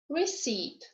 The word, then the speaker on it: receipt: Okay, now is silent in the groups of letters PN, PS, PT. For example, pneumonia, pneumatic, psychic, pseudo, ptarmigan, receipt.